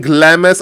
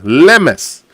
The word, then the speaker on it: Lemes: do by the way you pronounce lemes as Le and mess like mess in your room lemes and since that he